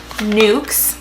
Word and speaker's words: Nuxe: these two products were both in the brand nooks and the first one is nooks lens it's how it's pronounced like excellence but nooks lens ich lot